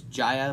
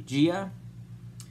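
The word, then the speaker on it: Jia: It's like a Kong's eye view of Gia, which is the actual pronunciation of the little girl that we see in the movie. I thought it was Jaya, but it's actually Gia.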